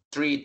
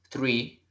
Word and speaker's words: three: late late verdad nadie cuando pronunciamos el 3 en inglés no digamos one two three tri tri no sino que one two three como como damos como una s